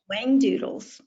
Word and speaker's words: Whangdoodles: Whangdoodles.